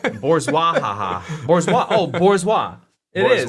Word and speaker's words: bourgeois: Per Google, it's pronounced bourgeois. Bourgeois.